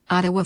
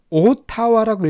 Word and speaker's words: Ottawa: Ottawa forecasts $706 million surplus, but warns of future uncertainties. 자, 여기서 Ottawa, 자, 오타와라고 읽지 않습니다. 물론 오타와가 발음 기호인데요.